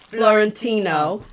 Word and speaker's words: Florentino: So our guests are Palma Florentino.